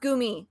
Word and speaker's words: Goomy: just hear people be like why it is pronounced goomy ha i was right oh he made the